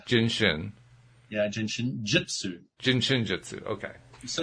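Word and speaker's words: Jin Shin Jyutsu: Just think of jin like you're drinking. Jin. But it's spelled with a J. And shin like the shin of your leg. Jin shin. Yeah, jin shin jitsu.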